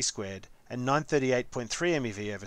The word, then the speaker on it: MeV: 1 million electron volts, written and pronounced as MeV.